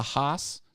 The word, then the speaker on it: Haas: a five-axis cnc machine called a haas that's how you say it oh do you have a haas yeah okay cool rebrand